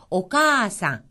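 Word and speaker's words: おかあさん: 오까 상 오상 자 지금 빨간 부분은 그 앞에 있는 것과 같은 모음이 이어졌습니다 그러니까이 부분만큼 한 자만큼 길게 발하라 하는 거죠 오카상 어머니란 뜻이고요 오지상 오지상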